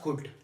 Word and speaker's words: could: कैसे प्रोनाउंस करना है इसमें एल क्या है हमारे पास साइलेंट है यह कुड नहीं है यह कुड है जिसकी मीनिंग है सताता